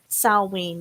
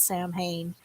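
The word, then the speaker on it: Samhain: Salween, not Sam Hain.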